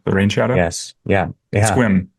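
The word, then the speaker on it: Sequim: Port Angeles the the rain shadow yes yeah squim squim yeah for all for all the folks in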